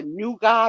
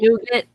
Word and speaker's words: nougat: I don't know even how to say the word, but it's either nugot or nugget. Nougat.